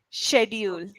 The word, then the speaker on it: schedule: if you're using schedule the way that you used it was schedule schedule say say was coming it's actually sh sound shedule yes shedule my schedule